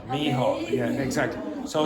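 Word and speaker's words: Micheál: How do you pronounce the first word? Michael. No, Mícheál. Mícheál, yeah, exactly.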